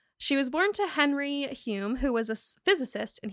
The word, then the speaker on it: Hulme: Juliet Hulme, which is spelled weird, but it is pronounced Hulme or Hulme. Hulme.